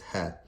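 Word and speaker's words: ه: Ha is like when you say the word hat.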